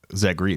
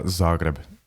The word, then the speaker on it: Zagreb: say that again please Z ree is that did I pronounce it wrong I bet yeah Zagreb sure dude how the was I supposed to know that it's like saying it's not Madonia it's macadonia [ __